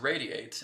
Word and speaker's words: RAYD8: is that all about well etheric radiate and it's spelled r a y d8 okay radiate is going